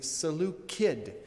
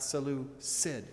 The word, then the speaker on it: Seleucid: offended by my mispronunciation so it would be salute kid not salute sid and i will try